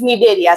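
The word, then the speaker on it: Cnidaria: Another name is निडेरिया. C silent, right?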